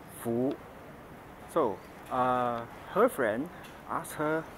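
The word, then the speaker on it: 福: stuff, and it's pronounced Fu. So, her friend asked her what this character means, and my cousin said Fu, which is the Cantonese version of pronouncing this word.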